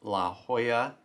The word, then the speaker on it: La Jolla: please forgive my ignorance it is pronounced la hoya you idiot east coast american high school